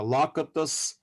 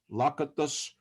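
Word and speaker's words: Lakatos: other three figures uh lakitus uh uh because in in hungarian surnames s is pronounced as sha sh on the end lakitus and you will see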